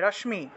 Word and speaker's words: রশ্মি: রশ্মি রত্না মুকুটাম রশ্মি রশ্মি তালবস আছে তাহলে রশ্মি উচ্চারণ হবে রশ্মি রশ্মি রত্না মুকুটাম বন্দে